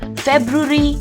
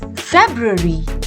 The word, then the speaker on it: February: it is called February now many of us may be pronouncing it as fervory or February but no it is February say it once more February and how do we